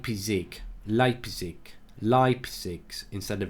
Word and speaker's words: Leipzig: from Jack Alba hurt me he says Mark Leipsic is pronounced like pisac Leipzig live six instead of Leipsic so Leipzig there you go mark how many girls will